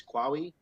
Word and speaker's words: Qawi: fight uh dwight muhammad i believe pronunciation is kwawi i could be wrong he was born